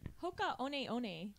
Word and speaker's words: Hoka One One: Yeah, who here can pronounce the whole brand name properly? Hoka One One.